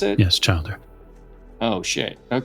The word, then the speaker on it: childer: so Casper is my Cher and uh it's Childer oh what am I is that how you pronounce it yes Childer oh okay well Childer is